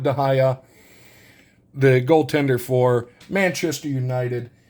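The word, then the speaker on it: De Gea: uh not it's pronounced I know the last name is dahaya because he's a Spaniard and I think it's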